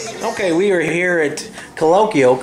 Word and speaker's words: Colokial: Okay, we are here at Colokial, correct?